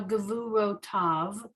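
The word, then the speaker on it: גְּבוּרֹתָיו: The yud is silent. So gavuro tav.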